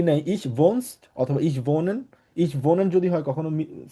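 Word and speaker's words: wohnen: Same ভাবে আমরা আরেকটা ভার্ব শিখবো, সেটা হচ্ছে ভোনেন। ডাব্লিউ আছে, ভের মতো উচ্চারণ হবে, বলবো হচ্ছে ভোনেন।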